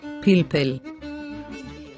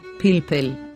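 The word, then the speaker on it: פלפל: It tells us to pronounce a long E sound, as in the E, of egg. So we pronounce this word as Pilpel. Pilpel.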